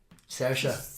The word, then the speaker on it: Saoirse: The actress in it, Saoirse.